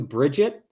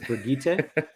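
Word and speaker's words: Birgitte: show came out, but I have heard various pronunciations of different characters. So I forgive you, Bridget, even though it's Brigitte.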